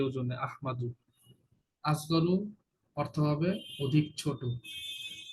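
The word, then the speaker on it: أحمد: আসল উচ্চারণ আহমাদু, আর ওয়াকফ ও, করলে আহমাদ।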